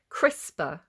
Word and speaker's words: CRISPR: CRISPR. So it's spelled like crisps. Like if you're in the UK, like Walker's Crisps, it's spelled like crisp with a R on the end.